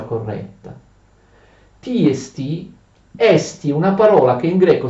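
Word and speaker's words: ἐστί: Oppure si dice esti, ritraendo l'accento, quando significa esiste, esistere, ma in questo caso significa essere, verbo essere, quindi non ha un accento, si pronuncia esti solo quando tu prendi la parola da sola.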